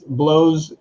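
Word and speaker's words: Bleaux: the first one is blows one of our artists and i just realized that sounds weird when you say it like that but blow is his name b-l-e-a-u-x and he just released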